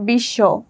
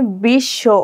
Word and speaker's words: বিশ্ব: কিন্তু এখানে একটা বিষয় লক্ষ্য করি যে বিশ্ব এবং দাঁড়, এখানে বিশ্ব, এখানে কিন্তু ব ফলাটা উচ্চারণ হচ্ছে না।